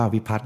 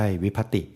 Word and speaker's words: วิภัตติ: เรา จะ เรียก ว่า วิภัตติ อ่าน ว่า วิภัตติ นะ ไม่ ใช่ วิภัตติ ซึ่ง วิภัตติ นั้น ก็ คือ